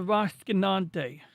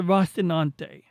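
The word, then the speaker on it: Rocinante: This is the Rasinante. I'm I'm saying it wrong. It's the Rastinante.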